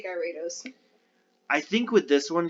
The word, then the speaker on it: Gyarados: name wrong too because you guys say gyarados i say guyratos i think with this